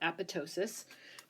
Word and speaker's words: apoptosis: this process called apoptosis AP opt OS is that that T there is silent so Apatow sis if we have a